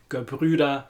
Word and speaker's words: Gebrüder: The word Gebrüder in the word Gebrüder Weiss is a great word for teaching the Ü sound. It's a very difficult sound for English speakers as we don't have it in English.